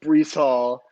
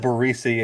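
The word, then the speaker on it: Breece Hall: in iowa state interview because we know it's brees hall zach is kind of whatever uh what how how do you say his name back i said barissi and i got roasted about the alabama receiver oh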